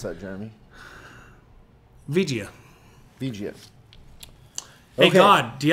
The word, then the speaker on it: Vigia: But how would you pronounce that, Jeremy? Vigia.